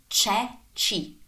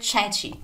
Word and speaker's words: ceci: Anytime the C is followed by E or I, then it is pronounced as in church. Remember ceci. Remember ceci. Ricorda I ceci.